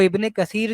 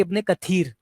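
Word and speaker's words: ابن كثير: बहुत सारे हमारे दाद भी ये मिस्टेक करते हैं कि वो इबने कसीर जो होता है उसको उसको पढ़ते हैं इब्ने कथर इबने कथर प्रोनाउंस कर रहे होते हैं वो या और भी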